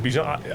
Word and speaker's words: Bijan: It's Bijan. Like what I said on the TV, like that's what it is.